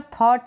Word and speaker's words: thought: यहाँ पर थॉट है, इसमें आप इस GH को नहीं पढ़ेंगे, ये साइलेंट रहेगा, इसका प्रोनाउंसिएशन नहीं होगा। और ये जो टी है इसको ट पढ़ रहे हैं।